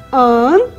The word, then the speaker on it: t'àan: Veja a diferença na pronúncia de tan e tan.